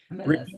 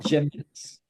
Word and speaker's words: gemelas: Gemelas. Remember the pronunciation class last week? It's not gemelas. Ah, sí, Ge- gemelas. Gemelas. Gemelas means twins.